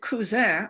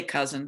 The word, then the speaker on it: Cousin: So we arrived at Cousin Island. Now that's the French pronunciation. That's, we'd say cousin, but because of the French influence, it's Cousin.